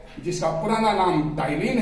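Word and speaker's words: ptyalin: पहले लोग कहते थे, जब हम स्टूडेंट थे उस समय उसका नाम था टाइलिन। टाइलिन, पी से शुरू होता है स्पेलिंग, पी से, PTY।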